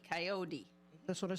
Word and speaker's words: Kayode: yeah it's kot coyote coyote with a d with a d coyot d That's what I said